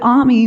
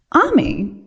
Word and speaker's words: Ami: I loved her name because it rhymes with mommy, but Ami was also our friend, just like the word meant in French.